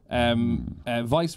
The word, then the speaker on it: Weiss: Interestingly, Vice Ratings, or Weiss Ratings, depending on how you pronounce it, which is like